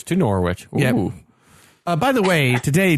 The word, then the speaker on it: Norwich: listen to the latest pod love it it's pronounced Norwich by the way so definitely we were saying normal rich yeah nor it nor it Norwich yeah no